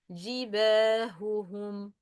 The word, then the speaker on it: جباههم: جباههم. هم. جباههم. وسبحه. وسبح. We should appear the sound of ha. Not pronouncing the ha clearly when stopping on it at the end of the word.